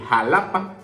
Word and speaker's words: Xalapa: Acabamos de decir Xalapa, porque comienza con X y con A. Aquí no aplican el mi mamá me ama, porque entonces si es X y es A, es Xalapa.